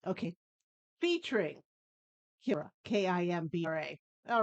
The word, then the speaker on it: Kimbra: Gotti, Gotye, then it's FT, and it's Kimbra, Kimbra. Yeah, can't pronounce any of that.